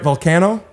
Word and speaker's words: Vulcano: today we have Sal am I saying right volcano you did say it right you're one of the only people that's ever said it right oh fantastic I oh